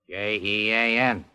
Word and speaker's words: Jean: the French name Johan j e a n and how do you pronounce that in English Jean there you are you